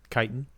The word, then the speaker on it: chitin: Chitin? Yeah, chitinous. Uh-huh. Yeah. So it looks like little fuzzy ears. Remember the chitins. That's a good way to remember that it is chitin. That's how you pronounce it.